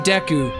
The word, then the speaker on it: Deku: Main character in that show is named Deku, and it's pronounced like Deku, and it's spelled like Deku.